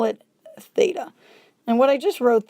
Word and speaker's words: theta: a squiggle line across it and that we pronounce as theta it's a greek letter and that's a common